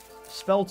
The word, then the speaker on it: spelt: Ooh, what is spelt? It's spelt sounds like a belt, but it's not.